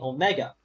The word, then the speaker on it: Omega: That's why one is O-mega and the other one is Ah-micron, because the Omega is pronounced O, and the Omicron is pronounced Ah.